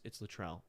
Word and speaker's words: Latrell: To correct the record, Rachi. Oh, I said it wrong. It's actually Rachi Rel. It's Latrell. I thought it said Rachi.